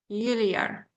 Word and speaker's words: peculiar: So peculiar. So here, if you notice that we have stress in peculiar.